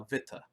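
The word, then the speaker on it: Witte: in Germany by uh vitaa I know I know it's spelled wi tte but Vita is apparently how you say that worth yes worth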